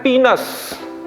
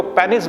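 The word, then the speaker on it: penis: अगला शब्द है पीनस। ठीक है, तो पुरुष का जो योनि होता है उसको पीनस कहा जाता है। कई लोग उसको पेनिस बोल देते हैं, गलत है, वो पीनस कहलाता है। स्पेलिंग देखें, उच्चारण देखें, पीनस।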